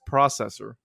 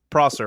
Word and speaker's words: Prosser: I think he put Processor. Probably. Shout out to Sam Tripoli. Yeah, man. It's one of those last names where people typically say it wrong. So, but it's Prosser, right?